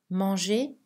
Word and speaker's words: manger: Mais la lettre R est silencieuse dans les verbes en ER à l'infinitif. Manger, parler, étudier, jouer.